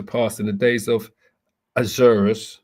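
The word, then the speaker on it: Ahasuerus: in the days of Azurus. So this is the Hebrew pronunciation of Xerxes, right?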